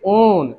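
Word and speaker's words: -one: क्या दिखता है, ओन, यानी कि पढ़ोगे ओन और स्पेलिंग है वन की तरह।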